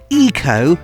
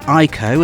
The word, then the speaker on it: Ico: iconic ps2 classic is called eco not ICO as I used to say and this game is